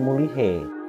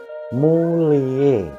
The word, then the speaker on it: mulihe: mule plus akhiran e kalau ditulis mulihe tapi pengucapannya bukan mulihe mengucapkannya maupun terdengarnya itu seperti mule jadi hanya samar berlaku